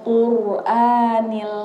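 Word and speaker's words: القرآن: Nah, ro-nya itu bukan qur biasa dibacanya, bukan qur gitu aja. Tapi ro-nya ro tafkhim, tebal. Makanya wal Qur'anil Hakim. Ya, ro-nya tebal, jadi dia agak maju sedikit.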